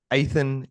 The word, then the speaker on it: Athin: grabb that correct yep aan so aan is like Nathan without the end aan um and